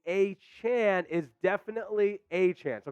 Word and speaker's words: Achane: Devon a Chan saying a Chan is definitely a chance so kind of confirming that report here it's close to eight chain but it's definitely a Chan so there we go